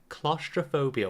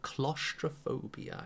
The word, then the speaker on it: claustrophobia: It is called claustrophobia. Well done, Zia, as well. Claustrophobia, yeah? The spelling is difficult and the pronunciation is difficult, yeah? So let's just say it together.